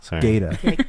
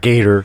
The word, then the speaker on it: Gata: Yeah, Gata. Not Gator.